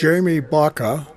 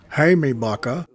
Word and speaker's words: Jaime: Jamie Baca, or properly pronounced in Spanish, Jaime Baca, was one of the 2 waist gunners of the crew.